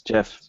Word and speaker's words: GIF: yeah the show's over it's jeff its jiff I'll never remember to say it that way but it's Jeff yeah yeah I'd never